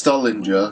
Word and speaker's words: Stuhlinger: It's Stullinger, because it's got the H in it, so that's how you pronounce it, but even Richtofen's pronounced it Stuhlinger, and it's...